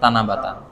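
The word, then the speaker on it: 七夕: তানার এখানে হচ্ছে সাতের কাঞ্জি হবে তখন এটার উচ্চারণ হয় তানাবাতা ঠিক আছে এছাড়া নরমালি ইউশকু ইভিনিং মেল এরপরে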